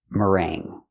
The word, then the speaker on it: meringue: It is pronounced mering. Mering. Use the sound like burger. Mr. Mr. Merang. Then use the long a sound like day and say plus the nasal sound.